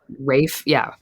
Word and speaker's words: Rafe: Alison: Yeah, it's Raphael Rafe.